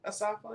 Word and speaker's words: Asafa: Asafa?